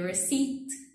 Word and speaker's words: receipt: So these irregular words could be a receipt. Receipt has a P, but we do not pronounce it.